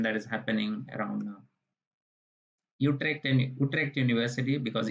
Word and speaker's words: Utrecht: Utrecht University, because U is pronounced as U in Dutch. So Utrecht University Excellence Scholarship, around 11,000 euro.